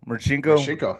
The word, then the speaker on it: Marcinko: Maxinko. Marcinko.